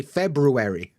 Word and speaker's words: February: a weird one CU nobody would say February February febu it's like a u sound February there's no reason for an r in the middle of that word and I bet loads